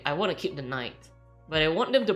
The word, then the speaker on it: Nite: because like back then my name is like n-i-t-e so it's like night and I.T night right but a lot